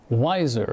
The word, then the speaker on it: Weiser: And tonight we have with us Weiser, and I just learned how to pronounce that correctly. Did I pronounce it correctly? That's right, just like Budweiser beer.